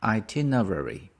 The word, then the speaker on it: itinerary: myself itinerary itinerary itinerary so the stress is on the second one itinerary the meaning of itinerary